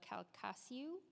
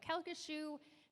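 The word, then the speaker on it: Calcasieu: 20 years and I don't know how to pronounce this but I will try the cassu parish kashu okay there we go kashu Parish technology director um Data Center and communication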